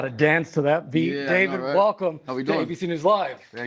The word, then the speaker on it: d4vd: Singer and producer David and it's spelled D4VD.